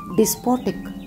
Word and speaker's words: despotic: तुसी इस वर्ड नू किस तरह प्रोनाउंस करते हो, डेस्पोटिक या डिस्पोटिक? कमेंट करके दसो। The right pronunciation is डिस्पोटिक।